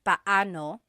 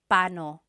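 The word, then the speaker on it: paano: And then just a pronunciation tip, it's technically pano. When there are two vocab or when there are two vowels together, you say them separately. Pano. But when speaking quickly, Filipinos just say pano.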